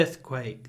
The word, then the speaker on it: earthquake: The earthquake. The earthquake. The earthquake. With a nice, you can even do a nice long one. The earthquake destroyed many houses. Earthquake. The stress is on earth.